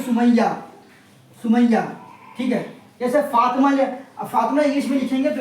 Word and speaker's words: فاطمہ: جیسے دیکھ لیجئے جیسے فاطمہ، فاطمہ یہ ہاں لکھا تو جاتا ہے مگر پڑھا نہیں جاتا ہے، جیسے سمیہ، سمیہ، ٹھیک ہے؟ جیسے فاطمہ انگلش میں لکھیں گے تو اس کی دیکھیے فاطمہ ہوگا، سمجھے؟